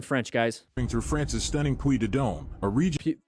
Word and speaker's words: Puy de Dôme: Through France's stunning Puy de Dôme, a region. Puy de Dôme.